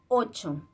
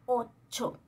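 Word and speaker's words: ocho: Et c'est 8. C'est très important, le CH, ça se prononce pas comme en français. C'est comme si on écrit le CH, mais avant on met un T. D'accord? Alors, 8.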